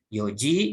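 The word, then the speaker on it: よじ: jam-jam part untuk tempatnya dibacanya Iyo Jadi bukan ion juga bukan sih tapi Yogya Yoji 04.00 jikang empat jam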